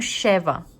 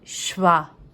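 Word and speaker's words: שווא: Então, aqui, ó, muita gente vai pronunciar como Sheva, mas não é Sheva, é Shva.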